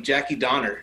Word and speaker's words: Jackie Donner: uh today we have a pleasure of an an international guest um currently in tel aviv israel welcome jackie donner did i say that pronoun did i pronounce that correctly you absolutely did thank you